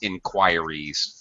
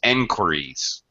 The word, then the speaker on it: inquiries: And the other thing is, I know this looks like inquiries. In fact, I'll be honest with you. I pronounced this inquiries for many years before I realized I was mispronouncing it. It's enquiries.